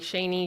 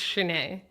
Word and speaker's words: Shanae: I hope I'm saying her name right, because I know people say my name wrong all the time, like Shani, Shani, Shanae. It's Shanae.